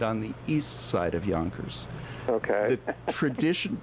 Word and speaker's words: Yonkers: Yonkers okay the tradition do you know what the traditional and the original pronunciation of the city's name is uh York no no no no and we'll get to that Miss Patty think joners what Yonkers yunkers because which means young hair young heirs uh